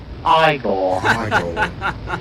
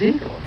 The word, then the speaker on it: Igor: No, it's pronounced Igor. But they told me it was Igor.